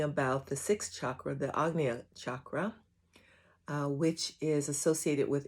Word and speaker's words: Ajna: Today we're talking about the sixth chakra, the Agnea chakra, which is associated with intuition, wisdom. The actual word Ajna, which is one of the ways it's pronounced, is means pure and purification.